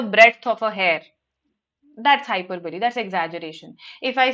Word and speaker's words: hyperbole: Hyperbole. That's how we pronounce it.